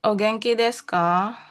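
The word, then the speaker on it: お元気ですか: Jadi kalau deska ogengki deska enggak desuka ya berarti bacanya. Deska gitu. Iya. U-nya tidak perlu terlihat. Jadi gengki deska.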